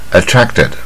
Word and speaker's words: attracted: 它卷一半，attracted 啊，这大卷舌。attracted 啊，不要念是 attracted 也不对啊。friend 也是